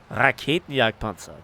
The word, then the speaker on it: Raketenjagdpanzer: Raketenjagdpanzer. There we go. German pronunciation.